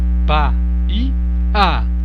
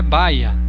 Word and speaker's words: Bahia: Perceba que Bahia não é Baia, né? Baia é de cavalo. Bahia é o estado. Então por isso que tem 3 sílabas.